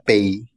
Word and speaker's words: pays: Sin, bueno, la S no se pronuncia, pero sería pays. Pays.